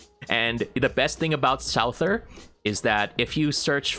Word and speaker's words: Souther: Well, it's kind of hard to say his name in English because it's called Sauza in Japanese. So it can be Souther, Thouser, or Souther. I'll call him Souther because it kind of sounds more appropriate.